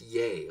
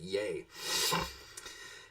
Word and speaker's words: yea: don't know is pronounced yay like if you're eating Shakespeare I learned that in high school it's pronounced yay yay I love the